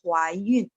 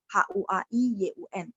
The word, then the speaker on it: Huaiyun: Jadi sebenarnya hamil tuh Huaiyun, baca yang tepatnya, cuman mungkin orang bacanya apa namanya kayak salah pronunciation jadi dengarnya kayak Huaiyun, Huaiyun gitu ya. Padahal enggak. Sebenarnya harusnya bacanya Huaiyun, H-U-A-I-Y-U-N, Huaiyun, hamil ya.